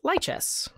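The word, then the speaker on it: Lichess: It's pronounced Lychess.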